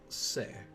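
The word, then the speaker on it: せ: Pronounce that one as Su. And this character, Se.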